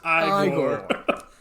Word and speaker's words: Igor: clothes Rick never mind you must be Igor now pronounced by Gore they told me it was Igor where they were wrong it's so great he